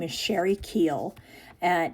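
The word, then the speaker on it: Keuhl: Um, so there is this woman, her name is Sheri Keel, and it's spelled, I think, K E U H L, something like that, Sherry Keel.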